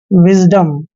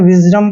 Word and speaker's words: wisdom: यहाँ पे W का उच्चारण हमेशा वह करते हैं और I को छोटी की मात्रा पढ़ते हैं और जब भी S से पहले I आता है तो S का उच्चारण जय करते हैं। DO का उच्चारण डे करेंगे और M को मैं पढ़ना है। विजडम, इसको हमने विजडम नहीं पढ़ना है, विजडम पढ़ना है।